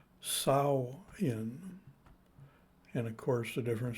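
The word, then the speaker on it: Samhain: But really, the pronunciation is peculiar as compared to the English spelling, but really it's pronunciation of sow in. A different pronouncer pronounced it sow in, And of course, the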